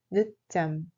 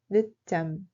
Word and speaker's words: 늦잠: Il se prononce comme 늦잠. 늦잠.